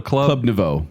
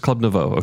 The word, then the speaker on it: Club Nouveau: Club Nouveau. Oh, just Club Nouveau.